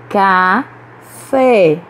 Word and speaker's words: café: Café. A sílaba forte é a última, então essa palavra é oxítona.